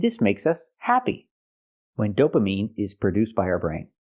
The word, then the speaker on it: dopamine: I cannot say this is when dopamine is produced by our brain. The word is not pronounced dopamine. It's pronounced dopamine. I have to use the long e sound like green beans.